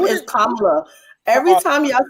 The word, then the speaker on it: Kamala: Her name is Kamala. Every time y'all say this lady name wrong, I just know like y'all doing this shit on purpose.